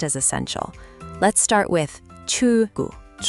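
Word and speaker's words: 출구: So, it's not chul gu with a hard break. It's more like chul gu with the L flowing into the G.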